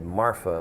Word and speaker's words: Marfa: appeared outside a town in West Texas called Marfa, which is spelled M-A-R-F-A.